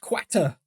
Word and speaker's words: Qatar: for Portugal as we've established it's pronounced quater and they are coming